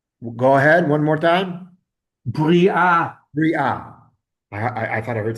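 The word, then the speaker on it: בריאה: Bri'ah. Bri'ah. I thought I heard something else. Bri'ah.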